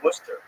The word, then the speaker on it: Worcester: Oh, Worcester.